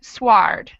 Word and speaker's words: sward: And the second one, sward. So the first one, it's silent. The second one, it is pronounced.